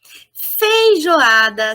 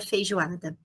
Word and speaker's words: feijoada: Por que o U? Porque a gente fala feijoada, a gente fala feijoada. É o U que aparece, predomina na linguagem oral.